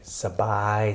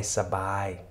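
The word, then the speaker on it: สบาย: ist einfach dieser Begriff, ausgesprochen wird, nämlich SB, gefolgt von I, SABAI, SABAI.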